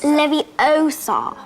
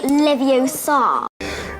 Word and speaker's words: Leviosa: Wrong. It's Leviosa, not Leviosa.